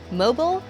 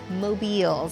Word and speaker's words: Mobiles: Jay says the number one question he gets is how you say the name. Is it mobile or mobiles? And he says it is mobiles.